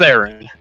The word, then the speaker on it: Aaron: First, is it Aaron or is it Aaron? Are we pronouncing your name right or no? It's Aaron. It's Aaron.